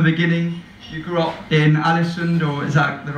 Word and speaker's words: Ålesund: stop from the beginning you grew up in ålesund or exactly the right pronunciation yeah and you made you a kind